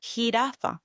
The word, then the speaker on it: jirafa: Second, your J letter in Spanish is pronounced as J, J, and with vowels it will sound ha, he, ho, hu. Words examples, jirafa versus the Y, the